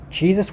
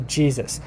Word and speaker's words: Jesus: turn into german so in german though the the the j is actually a y so jesus okay in german this is how you pronounce it uses uh well maybe not identical pronunciation but i'm trying so so you have like the the y and it's it's it's a y sound and then in english